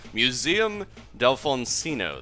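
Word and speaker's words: Museum d'Alfonsino: of the newest Maps Museum Delon oh murdered that name Museum Delon Cino there we go that's how you say it all right I've got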